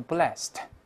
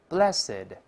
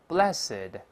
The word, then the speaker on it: blessed: 是发音的，不要读 blessed，是这么读的，大声来一遍 blessed。再来一遍 blessed。